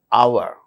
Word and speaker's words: hour: For instance words beginning with a silent H in the words hour, an honor, an honest man, an heir, an honorable man.